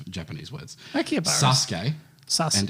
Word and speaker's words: Akihabara: You should probably figure out how to pronounce Japanese words. Akihabara.